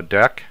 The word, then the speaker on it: deque: well now we're going to cover what a deck is uh it looks like dq but it's actually pronounced deck so deck also known as a